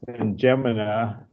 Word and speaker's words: N'Djamena: The capital is pronounced N'Djamena, and it's just south of Lake Chad, which